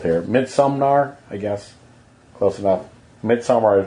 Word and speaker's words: Midsommar: Well, your dyslexia is showing because you pronounced it with an N in there. Sumnar, I think you said. Maybe. Okay. Midsommar?